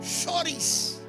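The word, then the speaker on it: χωρίς: Que es la palabra hebrea que se pronuncia, o griega, perdón, shoris, que significa, o viene, ¿verdad?, de la raíz shora, que significa espacio o distancia.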